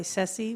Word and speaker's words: Ceci: I go by Ceci, which rhymes with Jesse.